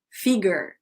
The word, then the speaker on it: figure: Figure, ó, pronúncia, não é figure, é figure, tipo Figaro. Figure skating.